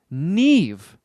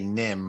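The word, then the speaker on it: Niamh: a m h oh my pot of gold Neve all right boy your your pronunciation of n-i-a-m-h mm I'm School little Friday pool my initial instinct is just to take the easy way and say Nim but that makes no sense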